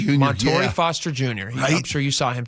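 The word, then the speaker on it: Montorie Foster Jr.: Am I pronouncing that right? Montory Foster Jr. Montto Foster Jr.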